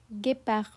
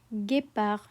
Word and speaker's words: guépard: It's pronounced as guépard, guépard. The U is only there to keep the hard G before the E.